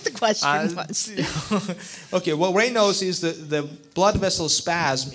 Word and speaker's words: Raynaud's: I've also heard that a lot of people with MS get Raynaud's. I think I'm pronouncing it correctly. Correct.